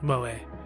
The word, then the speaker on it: Moe: I think I found out it's pronounced Moe.